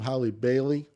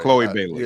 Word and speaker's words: Chloe Bailey: What, how do you pronounce her name? Holly Bailey? Yeah. Holly Berry. No, no, What are you no. talking about? Chloe Playing Bailey. Chloe Bailey. Yeah, Sorry. Chloe Bailey.